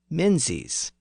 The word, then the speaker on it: Menzies: And another common surname, Mingus, was also spelled with a Z at the end, and it started to be pronounced as Menzies.